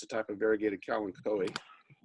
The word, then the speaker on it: Kalanchoe: a type of variegated cow and chloe which is the typical pronunciation not philanthropy even though it looks like kalanchoe that's going to be